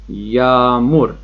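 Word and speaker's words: yağmur: و تلفظش رو هم دقت کنید، یومشکه یومشکه گفته میشه ولی تلفظ اصلا نمیشه، فقط یک حالت بار روی اون کلمه میاره. دقت کنید، یامور یامور یا حالت ا.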